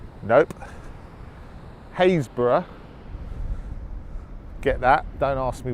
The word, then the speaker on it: Happisburgh: a double P is bu RG h Happisburgh happies borough nope Hays borough get that don't ask me why and I'm